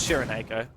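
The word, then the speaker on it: Srnkz3ro: way is chosen the most difficult possible way of spelling his name it's s-r-n-k-z-3-r-o but it's it's Sharon Aiko I apologize on behalf of everyone who's gonna get confused by the difference between the pronunciation the spelling oh gosh but he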